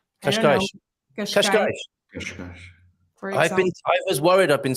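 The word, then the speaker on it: Cascais: You either have a S sound or a sh sound, and when you have an S at the end of words and no vowel afterwards, then you're going to have this sh, like in Kashkash.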